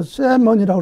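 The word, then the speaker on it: salmon: 이 L이 묵음이라서 세먼이라고 그러죠.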